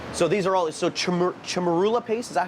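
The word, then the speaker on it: chermoula: We rub it with the chamurla paste, turmeric, cilantro. So these are all, so chamarula paste, is that how you say it?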